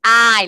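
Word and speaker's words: hay: Ay, la H es muda, entonces solo pronunciamos la vocal.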